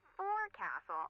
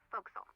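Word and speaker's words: forecastle: okay sh fact the for Castle on a ship refers forward deck of a sailing ship but it's pronounced fil what is that try pronouncing it like an English sailor with no formal education F Castle folville over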